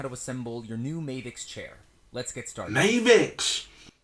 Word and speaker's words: Mavix: you will learn how to assemble your new mavic's chair let's get started mavic's is that was pronounced it's pronounced mavics i've been pronouncing in mavic's bloody hell that